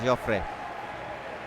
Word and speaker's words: Jofre: Íñigo Jofre, yeah.